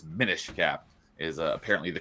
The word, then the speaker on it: Minish Cap: it's a basically a an abbreviation for diminish because you go down really small. Yeah. So it's min cap is apparently the correct way to say it.